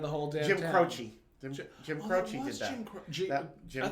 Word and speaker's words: Croce: Croce. Jim Croce did that. Jim Croce. I always pronounced his name Jim Croce.